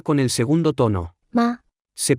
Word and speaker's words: 吗: 吗？ Se pronuncia con el tono neutro.